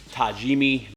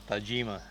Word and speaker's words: Tajima: bone in versus boneless tajimi this video correct you is how you say Tajima go ahead Tajima Tajima I was at home